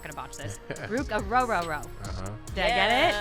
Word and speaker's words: Orhorhoro: to botch this, Ruke Orhorhoro. Did I get it? Said it right. Ooh. Like row your boat. Exactly. There we go. I was stressing about that one. Three rows.